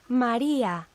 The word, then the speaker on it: María: So when we've got E and A together without an accent, it makes the same sound as ya in yap. But when it does carry an accent, we separate those sounds. So listen carefully to the difference.